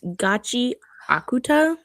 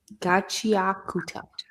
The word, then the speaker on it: Gachiakuta: but we finished um I looked up the pronunciation. It's Gachi Akuta. Oh, so that's how it's pronounced. Gucci show. Gotcha. Yeah, the coochie show though. Mhm. Wait, what' you say? Gachiakuta.